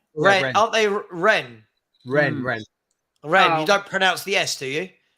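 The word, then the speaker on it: Rennes: Ren. Aren't they Ren? Ren. Oh. You don't pronounce the S, do you?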